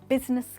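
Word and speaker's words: business: जी हाँ, तो इसमें कौन सा लेटर साइलेंट हुआ, इसमें ई साइलेंट है, आई साइलेंट है, और हम बिजीनेस नहीं या फिर बिजनेस नहीं बट बिजनेस कहते हैं, बिजनेस।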